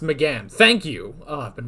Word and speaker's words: McGann: So it is pronounced McGann.